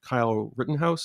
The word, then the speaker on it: Kyle Rittenhouse: we heard the verdict in the trial um kyle rittenhouse is that how you pronounce his name yeah and he was uh